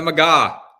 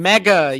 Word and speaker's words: MAGA: guys, like mega, because I said MAGA. It's the MAGA. Damn it! For those watching, I would say, what did I say? I don't even know what I said now. I said it. I said it wrong. Mega. You were calling them mega, like mega. Mega. It was like mega.